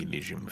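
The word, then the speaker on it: Elysian: Now, we know how to pronounce that from a Greek perspective. It's It's the English It's the English pronunciation. Yeah. It's not the Greek one.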